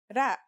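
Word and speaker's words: راء: our first letter is its closest English counterpart is the letter R but it's a different sound that must be learned ra it's not too hard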